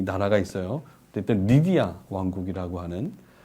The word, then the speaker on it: 리디아: 여러분들 성경에 보면 그 루디아 나오지 않습니까? 루디아. 그러니까 루디아는 이름이 아니죠. 그러니까 이 리디아 왕국, 고대에 굉장히 강성했던 리디아 왕국의 출신 여인 리디아입니다. 리디아, 루디아로 불리우지만 원래 발음은 리디아가 되겠죠. 그러니까 사실 우리가 지금 쓰고